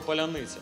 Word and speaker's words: паляниця: Ось, я навіть знаю, що ти вмієш вимовляти слово «паляниця».